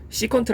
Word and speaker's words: 시컨트: 세타 아니 sec 세타 그리고 이제이 표현을 우리가 이제 수학에서는 시컨트 아고 발음을 할 하겠다라는 건데 그래서 시컨트 세타가